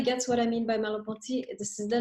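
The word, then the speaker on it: Merleau-Ponty: what I mean by mallampati this is the name right of the other philosopher that she mentions I'm typing it up for you and I'm pronouncing it in French that's easier right so what this guy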